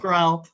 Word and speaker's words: Grell: Josh Grell. You said it weird. I was like, really? Is it pronounced Josh Grell? I thought it was Josh Grell. It's Grell. Okay, sorry, Josh Grell and Felicia Angel.